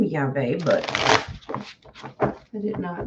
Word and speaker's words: Yahweh: Pronounced Yahweh. Okay, so I did do it right.